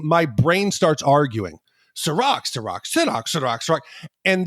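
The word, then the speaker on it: Cîroc: joke on this podcast for the way I pronounce things but I will try to say Ciroc for the rest of the season I like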